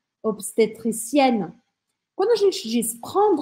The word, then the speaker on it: obstétricienne: E se for no feminino, eu vou pronunciar o N. E aí eu vou falar obstetricienne, obstetricienne.